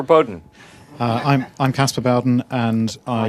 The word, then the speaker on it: Bowden: uh I'm I'm Casper Bowen and I I never pronounced your name right I always said it Bowden and I was always wrong all these years uh